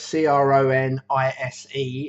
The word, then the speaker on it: Cronise: bit of paper because I always get his name wrong. Ray Cronise, so it's Cronise, is an ex-NASA scientist, and he's got a lot of stuff about intermittent fasting and cold therapy.